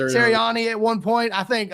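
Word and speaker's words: Sirianni: Serani at one point.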